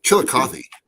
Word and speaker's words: Chillicothe: uh what's another one chillicothe she like coffee uh let's see here